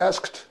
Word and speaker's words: asked: 예를 들면 ask 그러면은 K가 무성음이기 때문에 ED를 붙이더라도 이건 무성음이고 이게 무성음이니까 asked 발음 나는 거거든요.